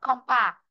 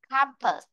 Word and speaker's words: campus: Chứ không đọc là compa. À, campus. Campus. À, vị trí thứ nhất nhá. Âm này là âm á này, con bé này là âm ơ. Khi chúng ta phát âm ra âm ơ, trong âm không có nhá, không có trong âm ở đó.